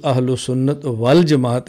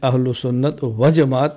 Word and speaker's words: اہل سنت والجماعت: السنت وجماعت لکھتے ہیں، تو صحیح تلفظ اہل سنت والجماعت ہے، اہل سنت وجماعت نہیں۔ اس پر ہمارے کئی